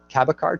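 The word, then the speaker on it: Cabécar: the tribe here is named cab e car tribe cabacar tribe is how they pronounce it so we're trying to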